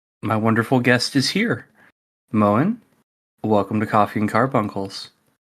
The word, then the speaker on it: Moen: But my original character is Moen, and it's a sea wolf name, which means it's not actually pronounced Moen, but I just go with Moen because that's what most people say.